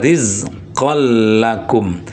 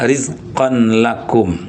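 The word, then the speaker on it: رِزْقًا لَكُمْ: Bacanya rizqol lakum bukan rizqon lakum. Ya. Jadi bacanya rizqol tapi tidak gunah.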